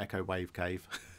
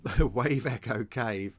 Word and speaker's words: Wave Echo Cave: starting to look at Wave Echo Cave. Have I said that right? Yes, I have. Not Echo Wave Cave. I told you in the other video, I keep saying it wrong. Wave Echo Cave.